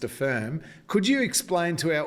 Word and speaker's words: APHIRM: At La Trobe, you've done some great work developing a participative hazard identification and risk management toolkit known as Affirm, APHIRM, but pronounced Affirm.